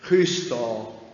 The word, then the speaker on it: Chrysostom: So it's not Christ in there. It's Chrysostom.